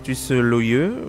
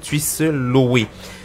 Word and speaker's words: Tchuisseu Lowe: Tuisse Loyeux, je crois que tu la bonne prononciation. Loé. La bonne prononciation, c'est Tuisse Loé.